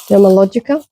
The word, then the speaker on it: Dermalogica: Dermalogica.